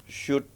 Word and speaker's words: Sjoerd: Shoot OE itu kan U bacanya. Oh iya Shoot. bener ya, jangan lama Ya. Kita overthinking aja Shoot bacanya. Wouden OU itu AU.